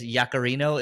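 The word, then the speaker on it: Yaccarino: So Yak is, I guess, Yacarino is, that's how her last name is pronounced.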